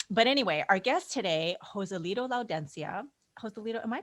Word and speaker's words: Joselito Laudencia: But anyway, our guest today, Joselito Laudencia. Joselito, am I pronouncing that correctly?